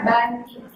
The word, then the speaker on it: banding: Tapi kalau dalam konteks perbandingan, ini dibaca banding. Jadi, kita bacanya banding, bukan lagi banding.